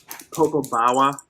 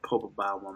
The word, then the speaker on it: Popobawa: Popo Bawa, not Popo Bawa, man. Popobawa.